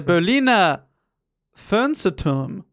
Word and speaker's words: Berliner Fernsehturm: The Berliner Fernsehturm.